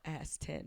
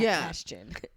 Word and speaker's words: Aston: Oh, it's Aston. Aston. Oh, good thing I never say his name because I didn't know how to say it, but now I know Aston, not Ashton.